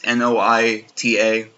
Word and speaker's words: Noita: Noita looks cool, or however you pronounce it. It's Noita.